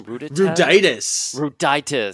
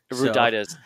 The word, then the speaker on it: Ruditis: Well, Paul, how do you pronounce his last name? Ruditis. I had him on the podcast, and he told me for sure. Ruditis. I think what Paul Ruditis